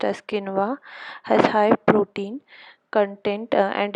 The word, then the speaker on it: quinoa: Next we have is quinoa, pronounced as quinoa, has high protein content and is similar to buckwheat.